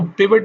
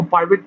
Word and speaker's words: pivot: इसको पिवट भी कह सकते हैं, इसको पाइवट भी कहते हैं। तो प्रोनाउंसिएशन का डिफरेंस है, आपको जो वर्ड सूट करता है आप उसके मुताबिक इसको प्रोनाउंस कर सकते हैं। सो पिवट या पाइवट दोनों आपकी चॉइस है, जिसको मर्जी यूज कर लें।